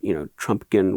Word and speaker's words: Trumpkin: But Trumpkin rhymes with pumpkin.